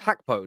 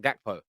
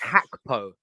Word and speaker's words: Gakpo: Is it pronounced Gakpo, not Gakpo? Yeah. Oh, we learned something. It's Gakpo.